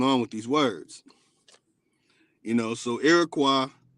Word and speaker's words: Iroquois: Some say Iroquois, but it's really Iroquois. O-I-S at the end is a French pronunciation of Y, but really, it's way. O-way.